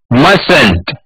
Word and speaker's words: mustn't: तो आप मेरे पीछे प्रोनाउंस कीजिए, यहाँ पे प्रोनाउंसिएशन में बहुत गलतियां होती है, मस्ट नॉट मसंट, बोलिए पीछे, मस्ट Not mustn't, must not mustn't।